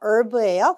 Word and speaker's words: herb: 이러한 어떤 그 허브를 이용한 발음 허브 아니고요. Herb브예요.